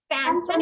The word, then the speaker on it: phantom: um and excellent rebecca remember phantom is pronounced with that sound also okay continue um gabriella